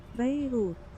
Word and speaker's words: Beirut: It's just that it's pronounced Beirut. You see, it's Beirut. Beirut, rather. The hard T's in English edition.